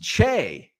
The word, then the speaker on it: Choi: on the Shelf uh in Korean Choi is pronounced Che interesting he sape I